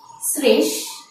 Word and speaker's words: শ্রেষ্ঠ: তাহলে আমি উচ্চারণটি নিচ্ছি, শ্রেষ্ঠ।